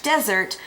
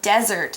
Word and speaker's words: desert: word here today is desert it's spelled dese RT desert it sounds like a Z but it's actually an S and desert is a